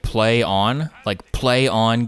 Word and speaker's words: Plaion: It's called like Plaion, but it's pronounced like Play On Games.